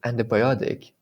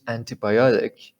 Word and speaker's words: antibiotic: t is like the in american antibiotic right it's not as right as it seems okay um the next